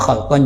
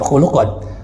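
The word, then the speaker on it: خلقا: milkan w khalqan ya Bacanya khalqan jangan khulqon kalau khulqan itu akhlak dipekertifir di sini tetap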